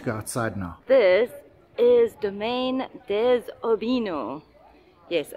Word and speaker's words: Domaine des Aubineaux: everyone, welcome to Domaine Des Aubineaux.